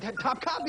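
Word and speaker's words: Topkapı: Topkapi Palace. Top Copy. Top Copy, that's how you say it.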